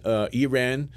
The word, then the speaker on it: Irã: Another interesting distinction is how we pronounce Iran, and in Brazil we say Iran, okay, and in Portugal is different.